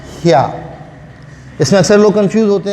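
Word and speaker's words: ひゃ: ही के साथ छोटा या लगा देंगे तो ये हो जाएगा ह्या।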